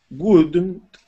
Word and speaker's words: wouldn't: This is wouldn't. Wouldn't. Yes, that's it. Nice job, okay? Remember that ooh, okay?